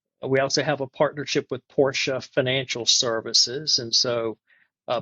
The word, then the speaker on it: Porsche: we started working with Porsche, I would say Porsche, a one- syllable word, but Porsche is a two-cllable word. It's the name of fairy Porsche who created the company, but it's it's definitely a twocllable word. Porsche.